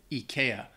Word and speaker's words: IKEA: number one Ikea I I think that anybody who is not from Sweden possibly pronounces this wrong because in Sweden they they say if I eeka um and even maybe I still might be mispronouncing it but if you're in